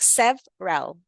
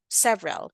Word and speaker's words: several: several you say like several several you don't really pronounce the e in the middle so it's several calls